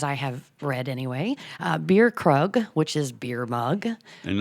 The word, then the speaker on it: Krug: Beer is pronounced like beer, but the Germans call that Krug. Kug. They don't say a hard R.